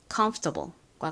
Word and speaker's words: comfortable: 그래서 comfortable comfortable과 같이 발음됩니다. 발음 연습 같이 해 볼게요.이 f는 약하게 바람 빼듯이 정도로만 발음해 주세요. 그리고이 컴 부분은 힘을 주어서 강세를 넣어서 발음해 주시고요.